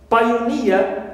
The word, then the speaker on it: pioneer: Also ear, pioneer. So near, right, ends with this suffix ear, so it is stressed.